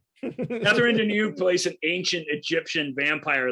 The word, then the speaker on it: Catherine Deneuve: Catherine Deneuve? Catherine Deneuve plays an ancient Egyptian vampire living in New York in an upscale apartment.